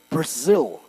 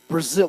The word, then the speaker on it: Brazil: Isso, eu falo tipo Brasil. Brasil.